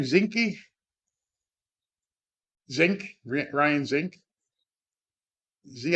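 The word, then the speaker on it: Zinke: One of the things that Lisa McCain, Ryan, how do you pronounce his last name? Zinci.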